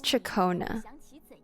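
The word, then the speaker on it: Ciaccona: That's Chakona. That's how you say her name. Shakona.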